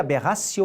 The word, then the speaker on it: aberratio: de aberratio ictus vejam você escreve aberration e pronuncia aberración o ictus o fundamento